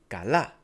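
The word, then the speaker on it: καλά: For example, the word kala has a stress on the last a. So we read it as kala.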